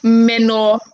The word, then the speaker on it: menorrhagia: That's the pronunciation. It's actually menorrhagia. That is Menorrhagia.